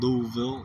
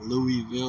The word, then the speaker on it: Louisville: haven't uh been given the correct pronunciation it's pronounced Louisville not Louisville or Louisville and uh drop them in the comments which